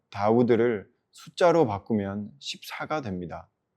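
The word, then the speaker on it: דוד: 다윗의 히브리어 발음 다우드를 숫자로 바꾸면 14가 됩니다.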